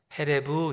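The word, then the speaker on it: חֶרֶב: 그런데이 하라반은 히브리어로 칼이 음식 만들 때 쓰는 칼, 사람을 찌르는 칼, 전쟁할 때 쓰는 칼 그 칼을 히브리 말로 헤레브 이렇게 발음했습니다. 그니까 하라부, 헤레브 비슷하죠.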